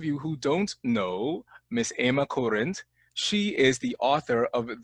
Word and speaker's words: Ema Kurent: joining me all the way from Slovenia is Emma current Emma thank you so much for being here